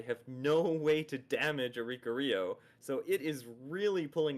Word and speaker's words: Oricorio: The mighty centipedes are powering up, but without Darkrai, they have no way to damage Oricorio.